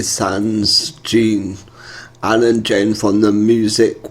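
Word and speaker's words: Zhané: So without no further ado, this is Zhane, La La La, off the album pronounced Zhane. Zhane.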